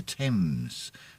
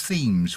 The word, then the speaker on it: Thames: to london it has a river running through it called the thames but i've noticed a lot of american audience will pronounce it as themes which is actually probably